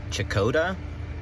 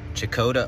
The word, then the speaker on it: Checotah: All right, we're here in, I think it's pronounced Checotah. Checotah, Oklahoma, the home of Carrie Underwood from American Idol, and it's a cute little town.